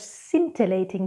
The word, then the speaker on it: scintillating: Scintillating, scintillating. Skizzers, scissors. Muscle, muscle.